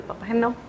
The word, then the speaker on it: Papageno: Así el efecto Weather, también está el efecto papageno, que hacen como este ¿Cómo match. se pronuncia?